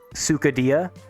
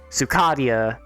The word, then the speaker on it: Sukadia: they're pronouncing it like sukhadia um but you do have to be very very specific like I usually spell it out like Sue like suing someone uh which is just